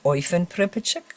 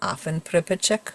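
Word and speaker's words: אויפֿן פּריפּעטשיק: You can pronounce it either Oifen Pripachik or Afen Pripachik, whichever you prefer.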